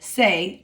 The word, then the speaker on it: se: So we can tell that the verb llamarse is reflexive verb because of those letters se, pronounced say, on the end of the verb.